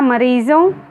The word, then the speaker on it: मरीज़ों: इसी तरह मरीज़ों, यह भी उर्दू का शब्द है, इसलिए ज के नीचे नुक्ता का प्रयोग किया गया है और ओ के साइड में अनुस्वार का प्रयोग है क्योंकि इसका उच्चारण करते समय केवल नाक से हवा निकलती है।